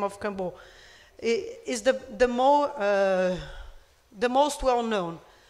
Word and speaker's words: Kambô: use of the frog, Kambo. Kambo is in Portuguese. In Pano, it would be Kampo. I'm using the Portuguese version here.